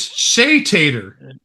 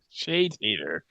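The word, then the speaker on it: Chez Tater: It's Shay Tater. Shay Tater. Yeah. The Z is silent and the E is uh it sort of has an implied accent.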